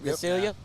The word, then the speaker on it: Visalia: Visalia. Visalia? Yep. Visalia.